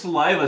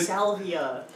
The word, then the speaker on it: salvia: It's pronounced saliva, stupid. No, salvia.